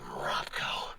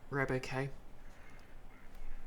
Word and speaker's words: RobCo: It feels weird to me it's pronounced Robco and not Roboco.